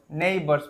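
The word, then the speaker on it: neighbour: আর sound হয় তো এটা নেই যে এর উচ্চারণ হচ্ছে না বর নেইবার প্রতিবেশীরা ঠিক আছে নেবার প্রতিবেশীরা কেম ছুটে ছুটে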